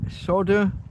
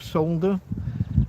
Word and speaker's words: solder: Soldering irons, flux, solder or solder. Uh we British pronounce the L.